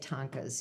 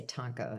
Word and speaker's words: tanka: to write I mean or I should say Tonka you don't put the Tonka are fun to write in in Japanese it's there there is no you know you don't say tonas you just say tanka singular for both singular and plural okay um what is